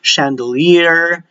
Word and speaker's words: chandelier: Let me add for SH, you have the SH sound, even though they are CH in spelling, you have the champagne, chandelier, Chevrolet, but this one, they are